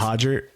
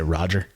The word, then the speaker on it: Roger: You say Hodger, maybe. If you pronounce with the H, but if you pronounce American, you say Roger. They'll be like, who?